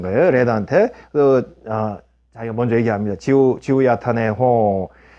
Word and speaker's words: Zihuatanejo: 지우야타네호. 호 했죠. 그 스페인어는 원래 이 J 발음이 흐 발음입니다. 그래서 지우야탄의 호 이렇게 돼 있죠. 그래서 지우 what 뭐라고 이렇게 이제 물어보니까 It's in Mexico. 지우야타네요.